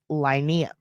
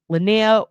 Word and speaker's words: Lenia: And I think it's actually pronounced Linnea.